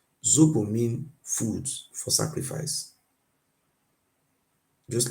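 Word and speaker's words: sobo: me clear you something the word Robo there is not it's not called rubu in our language it's called zuu the pronunciation is this spelling is s o b o zobo zobo mean food for sacrifice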